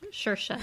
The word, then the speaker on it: Saoirse: Shersha.